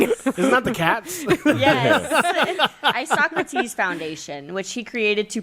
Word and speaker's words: Isocrates: Okay, yeah, we did talk about this because that is not how it's spelled. Oh, I got the sound up. Oh yeah. Ready? Yeah. Isocrates.